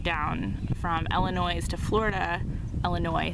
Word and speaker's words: Illinois: from Illinois to Florida, Illinois, sorry, there's no S, the S is silent, to Florida to pick